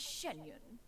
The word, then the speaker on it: Xianyun: be sure to refer ref to one as shenyun oh I've been saying it wrong shenyun Shen